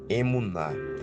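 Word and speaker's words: אמונה: sua vida e aí a fé em hebraico a o significado a pronúncia dela é emuna se estou em uma situação de perigo preciso usar a emuná ou seja me agarrar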